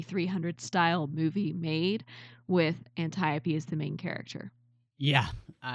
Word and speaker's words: Antiope: liked the Great General, and I always consistently mispronounce her name. So Matt, Antiope. Okay, are you sure you're pronouncing it correctly? I am. Okay, Antiope.